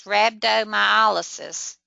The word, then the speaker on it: rhabdomyolysis: word I heard was rhabdomyolysis and of course the H is silent so you wouldn't think